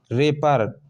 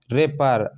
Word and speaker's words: wrapper: रेपर, WRAPPER, रेपर, आर से start हुआ, डब्लू क्या है, साइलेंट है, वो साइड में है, उसकी ध्वनि साइड में है, ठीक है।